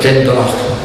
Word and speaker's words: Glendalough: in a village called Glendalough, the Glen of the Oak. And it's pronounced like that, the emphasis of the last part.